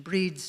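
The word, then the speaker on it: Bríd: as Bridget's day or to give the Irish pronounce pronunciation breed's day breed was a triple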